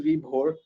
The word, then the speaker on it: Vibhor: Well, my name is pronounced as Vibhor, but trust me, I won't bore you to death.